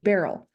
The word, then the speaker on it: Beryl: Oh, It's like Meryl with a B. Meryl with a B, Beryl.